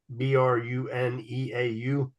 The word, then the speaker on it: Bruneau: I think it's Bruno, Bruneau. Hmm. Spell that again. Bruneau. Would that be Why? Bruno? Yeah. I don't know. I bet you the E silent.